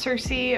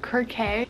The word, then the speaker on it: Circe: Pronounced Circe or Kirke.